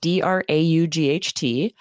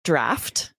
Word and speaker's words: draught: speakers, because this word, it's spelled D-R-A-U-G-H-T. Yes. It's always pronounced draft.